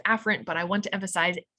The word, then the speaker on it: afferent: pharynge right you know this word is normally pronounced afferent but i want to emphasize afferent which is